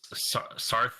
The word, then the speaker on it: Saryth: Also, how do you spell that? It's like EA. It's SARYTH. That's the thing I always miss. Yeah, it's the Y that's in there.